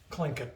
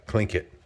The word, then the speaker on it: Tlingit: So it's spelled Tlingit, but it's pronounced Tlingit. Tlingit.